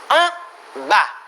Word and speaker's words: en bas: La S al final no se pronuncia. En bas.